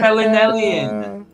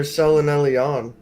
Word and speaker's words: selenelion: Selenelian. There you go. Selenelion.